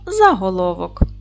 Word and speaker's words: заголовок: цього слова Давайте перевіримо поділимо слово на склади за головок наголос буде падати на третій склад з твердий приголосний а